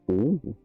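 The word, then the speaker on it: 王: Donc, Onyomi, c'est oh. Et ça me dit qu'il n'y a pas de Konyomi.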